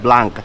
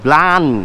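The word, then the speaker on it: Blanc: আমরা যদি বাংলায় উচ্চারণ করি এই লেখা তাইলে হবে ব্লাঙ্ক, কিন্তু এটা একটা ফ্রেঞ্চ ভাষা। এই ফ্রেঞ্চ ভাষায় এই ব্লান হচ্ছে গিয়ে এটার উচ্চারণ, আর এই শব্দের অর্থ হচ্ছে গিয়ে সাদা।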